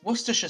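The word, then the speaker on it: Worcestershire: It's Worersha sauce.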